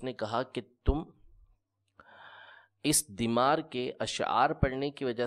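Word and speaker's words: ضمار: کو پوجا کرتے تھے۔ ضاد میم الف را، دیمار۔ دیمار اس کا صحیح تلفظ ہے، بعض نے اس کو دمار بھی پڑھا ہے۔ اس کی عبادت کرتے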